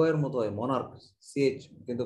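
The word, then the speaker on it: monarch: এরকম অনেক ওয়ার্ড আছে যেখানে সিএইচ এর উচ্চারণ ক, মোনার্ক, MONAR সিএইচ, মোনার্ক, মোনার্চ হয় নাই, মোনার্ক।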